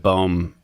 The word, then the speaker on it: boom: did not realize that boom which is how you pronounce boom in Dutch means tree so right